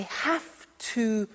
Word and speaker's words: have to: I have to use a computer at work. Now, did you hear my pronunciation? I have to. Notice I don't say V, I say F.